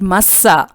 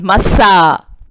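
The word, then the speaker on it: מַשָּׂא: In the ancient Hebrew language, the word Massa, pronounced by stressing, means burden or being a burden to someone. It is usually uttered by lifting up the voice, Massa. Massa, when pronounced lightly, means oracle, a word from God.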